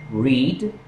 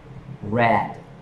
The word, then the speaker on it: read: Se escribe igual en el pasado, pero se pronuncia diferente. El verbo escribir, read and read.